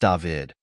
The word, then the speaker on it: David: It is pronounced David, but my friends call me Dav.